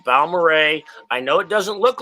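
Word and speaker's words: Balmorhea: it's Balmoray. I've gone Okay. scuba diving there. They have this like this Clear Springs scuba diving place. It's Balmoray.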